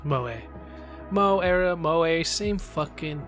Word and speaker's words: Moe: I think I found out it's pronounced Moe.